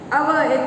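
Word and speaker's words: hour: Spelling is different, but the pronunciation, the reading style is same. B, B. By, by. I. Here, here. Our, H-O-U-R.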